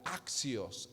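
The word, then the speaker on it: ἄξιος: de la palabra griega axios axios con acento en la axios y significa merecedor Quién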